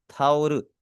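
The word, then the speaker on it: タオル: थाउर। ठीक है, थाउरू और ठाउल दोनों में इसकी प्रोनाउंसिएशन आपको देखने में सिमिलर लग रही है ना।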